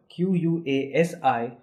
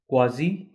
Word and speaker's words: quasi: would like to tell you that this word qu a si is pronounced both ways quasi as well as quasi now it depends on